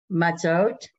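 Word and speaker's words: מַצּוֹת: Matzot. Me. No, me. Ma. Right. Ma. So it just separated out the syllable for you.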